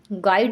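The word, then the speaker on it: guide: silent word क्या है गाइड में तो इसमें हमारा साइलेंट वर्ड है यू यू हमारा क्या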